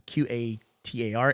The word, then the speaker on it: Qatar: We had a discussion about how to pronounce Q A T A R and I watched a video afterwards how to pronounce it. It's mo the accepted American pronunciation is Qatar even though it sounds like guitar.